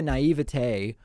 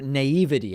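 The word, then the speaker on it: naïveté: happening where i think the naivete or naivete i've heard it pronounced both ways i prefer naivete where i think you're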